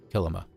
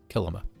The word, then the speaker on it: Kilima: of when they say when you want to know how to pronounce it think of Kilimanjaro so kilima kilima that's how it's pronounced